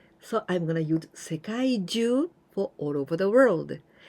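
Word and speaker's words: 世界中: So 世界中, here we pronounce Jyuu, not Chuu. 世界中, it means all over the world.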